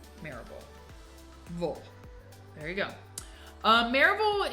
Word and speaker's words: Maryville: If you say like it looks like Mary, we say mare like a horse. Maryville.